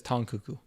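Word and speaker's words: Tang Keke: name is tong kuku apparently it's spelled tang but she says tong kuku um and uh she's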